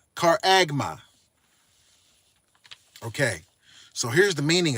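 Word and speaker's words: χάραγμα: number G 5480 it's a um Greek word pronounced caraga caraga okay so here's the meaning of that a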